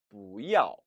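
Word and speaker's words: 不要: 읽어 보시죠 v 아 부 야오 원래는 이 아오 4 성이고 뿌 또 4 성이라 후 이 아오 라고 발음해야 정상이지만 부 야오 하면은 발음도 힘들고 또 상대방에게 오해를 미칠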